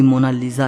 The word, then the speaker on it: Mona Lisa: सही स्पेलिंग यह है कोई इसे मोना लिसा कहता है तो कोई मोना लीजा कहता है लेकिन इटालियन में इसकी करेक्ट प्रनंसीएशन है मोनालीसा इसका मतलब होता है